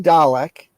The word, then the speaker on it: Dalek: It's pronounced Dalek.